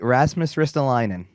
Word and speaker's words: Rasmus Ristolainen: i say his name you got it right rasmus ristolainen all right so who is he and why